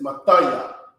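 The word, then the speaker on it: מתי: it you know so at the beginning it may be ma but it's mathaya okay you gotta try to flow through it and you see these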